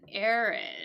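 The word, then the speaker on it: heir: that is what an air is they inherit they get the property they get the money they like legally re receive it um and notice that pronunciation it's just like air air so that we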